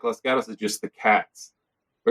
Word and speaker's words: Los Gatos: Everybody in LA doesn't understand that Los Gatos is Los Gatos.